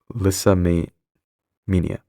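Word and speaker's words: lyssamania: for erupting into rages, pronounced Lissa Mania. Liss Mania, I uh apologize if there's any background noise.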